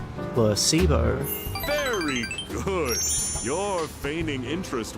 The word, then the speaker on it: placebo: Placebo. H. The stress is on the middle syllable. Placebo.